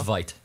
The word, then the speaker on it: Veidt: I've been saying it wrong for years, I realized, on HBO Watchmen. No, it's Veidt.